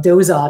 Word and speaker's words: Dauzat: And then I've got our Rhymes with Robot, which is our Dauzat St. Marie playlist and helping people know how Dauzat is pronounced.